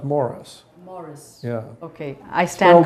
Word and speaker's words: Maurice: So tell us about your film that's going to be showing here at the 60th San Francisco International Film Festival, Maurice. It's pronounced Morris.